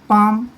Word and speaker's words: palm: PALM, पाम, L silent रहेगा।